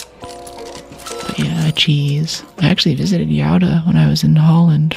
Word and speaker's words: Gouda: I actually visited Yada when I was in Holland for Roderdam. It's spelled Gouda American pronunciation, but cute little town.